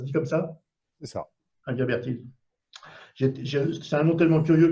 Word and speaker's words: Inguimbertine: Et à l'heure actuelle, tu es directeur alors, de quelque chose, j'ai essayé de le prononcer, bien que ce soit du français, Inguimbertine. Ça se dit comme ça? C'est ça. Inguimbertine.